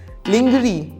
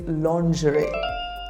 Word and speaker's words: lingerie: word so how do you pronounce this word linger the correct pronunciation is lingerie repeat after me lingerie the lingerie was on